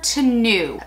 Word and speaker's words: Tenue: about the chanel and i always get the name wrong it's the ultra to new so i actually have five shades um let